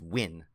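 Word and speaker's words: Nguyen: know I am know it's win that's how you say yeah really okay so it's Derrick win in GUI en yes which I should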